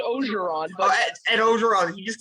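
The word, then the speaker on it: Orgeron: Did Ed Oregon just come on our show? It's pronounced Ogeron, but Ed Ogeron, he just come on our show?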